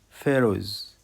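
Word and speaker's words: pharaohs: الاس سايلنت لا تنطق فيروز فيروز فيروز فيروز فيروز فيروز فراعنه وكلمه فيروز البي والاتش تنطق اف فلوكا فلوكا قارب شراعي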